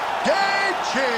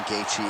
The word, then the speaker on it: Gaethje: We all know the J in Gaethje is silent.